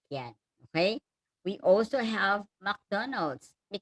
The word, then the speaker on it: McDonald's: We also have McDonald's. Pag pronounce daw, Mick siya, McDonald's.